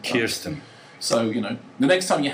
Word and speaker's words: Kirsten: But she is Scarlett Johansson, but Tom Wilkinson came on the show and he said, she is Kirsten. Kirsten.